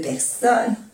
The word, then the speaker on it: personnes: Lorsque nous sommes, no se pronuncia la E ni la S, sommes plus de deux personnes, tampoco se pronuncia la E y la S, deux personnes, nous allons, aquí se oye la S, porque como le sigue una vocal, le hacemos la unión.